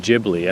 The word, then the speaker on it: Ghibli: the youtube channel beyond ghibli i think i said beyond ghibli you know studio ghibli i don't know why it's a soft g everything in japan is a hard g evangelion you know why